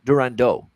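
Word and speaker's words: Durandeau: Islanders Arno durando uh durando actually is probably how you'd say it with the French uh pronunciation but Arno durando for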